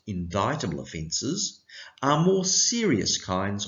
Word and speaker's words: indictable: t a b l e offenses but it's pronounced indictable offenses are more serious kinds of criminal offenses